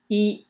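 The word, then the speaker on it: 衣: six Strokes and uh is pronounced e in the first tone e and uh it usually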